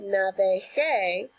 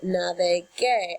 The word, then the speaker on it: navegue: I don't want to say navege, I want to keep that hard G sound, so I say navegue.